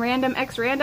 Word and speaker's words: Random X Randa: Hi guys, I'm Random X Randa, and we're here with another bump date. The X is silent, by the way.